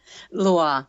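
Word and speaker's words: Lwa: we have to explain a little bit about Loi. Is that how you say it? I have to work on my pronunciations here. Loi.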